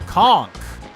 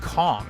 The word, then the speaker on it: conch: I've heard it pronounced conch, but also conch. I don't know, it's weird. I come from Florida, and in Florida, I feel like people say conch, and that is supposed to be correct. But it definitely looks like it would be pronounced conch, so it's very weird.